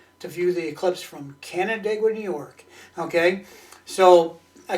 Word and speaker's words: Canandaigua: Yeah, Canandaigua, just like that.